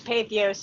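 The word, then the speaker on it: Patheos: eco preacher blogger for pathios is that how you say it pathos pathos yeah yos dot com she's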